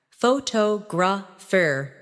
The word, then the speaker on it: photographer: In English, some words are pronounced with extra emphasis on one part. For example, photograph, photographer, and photographic. The stress moves and that changes the sound.